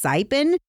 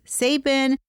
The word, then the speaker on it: Saipan: Also, last time, or I think on multiple occasions, I have mispronounced the USS Saipan. I usually refer to it as the USS Sapin.